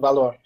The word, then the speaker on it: Valor: I will choose the Latin pronunciation, Valor. Valor, like the English Valor, means the same thing.